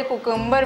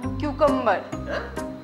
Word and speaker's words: cucumber: तो मैं आपको बता दूं कि स्पेलिंग होती है CUCUMBER, लेकिन इनकी तरह कुकुम्बर मत बोलिएगा प्लीज। आप लोग बोलिएगा, सुन लो, आप लोगों को बोलना है क्यूकम्बर, क्यूकम्बर, क्यूकम्बर, क्यूकम्बर, क्यू और रजाई वाला कम्बर, कम्बर, क्यूकम्बर दोस्तों, क्यूकम्बर।